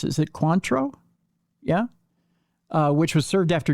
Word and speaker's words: Cointreau: to the bottle of I forget how that's pronounced. Is it Cointreau?